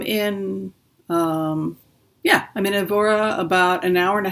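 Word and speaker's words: Évora: Whimsy I am at the I'm in Aurora evera is that how you pronounce it Evra Evra so I'm in um yeah I'm in evora about an hour and a half from Lisbon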